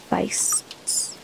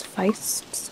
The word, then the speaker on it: Feist: hunting dogs known as fist I don't know if that's Feist or feasts but it's spelled like Feist if you're like reading it like from a Germanic language point of view common throughout Family